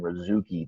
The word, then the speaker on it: Razooky: I have with me a special guest, Razooky. This is correct pronunciation, correct?